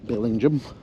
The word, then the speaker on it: Bellingham: It's a local pronunciation, so I better get it right, Bellingham.